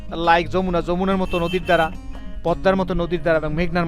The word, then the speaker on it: Padma: এটা পদ্মা উচ্চারণ করে পদ্মা, এটা এম উচ্চারণ হবে।